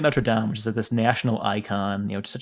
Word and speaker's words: Notre Dame: Isn't there a difference between the school pronunciation and then the cathedral? Yeah, Notre Dame is the Americanization of Notre Dame. Notre Dame is the French.